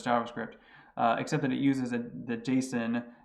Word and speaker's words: JSON: except it uses that jason data format or json some people pronounce it that way for some reason which is simply a